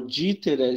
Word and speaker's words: Dieter: Meu nome é Dieter, né? O Dieter se escreve com IE, mas se pronuncia I.